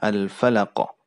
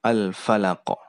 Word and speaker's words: Al-Falaq: Pertama ada huruf fa ya. Penyebutan huruf fa itu gigi atas bertemu dengan bibir bawah. Kemudian diucapkan dengan hamas. Hamas itu ada hembusan udara yang keluar dari tempat keluar huruf tersebut. Fa. Fa.